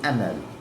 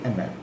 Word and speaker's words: Hamel: So Monsure ML and H is silent so ML monsure ML.